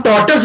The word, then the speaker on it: tortoise: यस, Sir, हम tortoise को turtle हम टॉर्टस बोलेंगे उसको, उसका प्रोनाउंसिएशन होता है टॉर्टस।